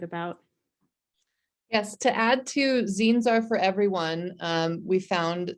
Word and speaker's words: zine: First of all, they're pronounced zines if we haven't gotten that far.